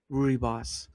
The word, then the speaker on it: rooibos: Oh, gosh, I have to look how to say rooibos. Rooibos. Rooibos. Ah, rooibos. Okay, rooibos. All right, that's how they say it.